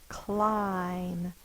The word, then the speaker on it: climb: Vow is short but listen to the vowel sound when I say it clim that's the long I sound that's the same